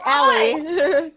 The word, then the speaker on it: Eli: you first of all he pronounces it ellie okay ellie instead of you like okay gotcha okay